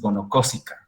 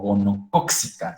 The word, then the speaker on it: gonocócica: Lo que ustedes están viendo es en realidad una cervicitis gonocócica o gonocóxica. Se puede pronunciar de las dos formas porque mucho la literatura en español lo coloca como gonocóxica, ¿sí? Como con doble C.